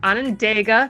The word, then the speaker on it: Onondaga: Hey everybody, today's guest hails from Onondaga, Michigan.